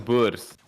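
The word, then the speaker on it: Boer: yeah they call them bus what uh like the the word for Farmer and Africans is a bu and um yeah they they no b o e r that's how you spell it uh and yeah they they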